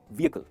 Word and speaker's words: vehicle: व्हीकल नहीं, इसे कहेंगे व्हीकल। देखिए डिफरेंस, व्हीकल, व्हीकल। इसमें जो ई है ना वो लॉन्ग वावल है, मतलब हम थोड़ा सा उसको स्ट्रेच करते हैं, व्हीकल वो स्ट्रेच होता है, और एच है ना वो साइलेंट है, तो कहेंगे व्हीकल।